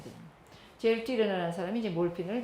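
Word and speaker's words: Sertürner: 유에다가 점을 2개 찍는 거죠. 그래가지고 위 발음을 해야 돼. 젤 띠르너 이렇게 발음해야 됩니다. 젤 띠르너라는 사람이 이제 몰핀을 맨 처음에 발견하게 됐다 이렇게 되고요.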